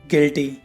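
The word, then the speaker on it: guilty: अब गार्ड में देखो गाइस, जी के बाद यू आया हुआ है तो यू साइलेंट है। ऐसी और भी एग्जाम्पल हैं, guard, guest, guess, गिटार, गिल्टी।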